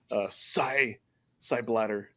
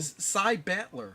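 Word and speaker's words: Psy Battler: Psy Bladder. Saying that right? Bladder, side bladder. What Side are you bladder. talking about? Like seriously. Isn't that how you pronounce this game? Side battler. Oh, Battler, not Bladder.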